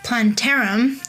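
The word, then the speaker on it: plantarum: And then we have L planter, P L A N T A R U M, which uh supports gut barrier, uh, antioxidants and mood.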